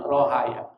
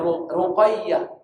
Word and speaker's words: Ruqayyah: Memang bacanya Ruqayyah. Kita baca Rugaah. Kenapa? Pengaruh hadrom qof jadi go rughayah.